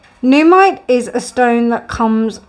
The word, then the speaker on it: Nuumite: Now, with this Nuumite heart, or Nuumite, I think it's Nuumite as an N-O-O, and it's N-U-U, but pronounced N-O-O. Nuumite is a stone that comes from Greenland.